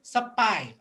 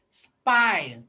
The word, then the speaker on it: spy: english phonics so you have to say spy okay do not say supply all right spy is the correct to pronounce in english okay everybody say spy